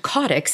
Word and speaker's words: caudex: which I've recently learned codex is the correct way to pronounce it and there's a lot